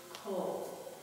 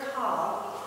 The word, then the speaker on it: kol: vast majority of cases, there are a few instances where that vowel, that little T vowel, sounds like O as in flow. The most common Hebrew word in which this occurs is kol, which means all or every. So every time you see kol, it's never kal, because kal means easy in Hebrew. It's never kal, it's kol.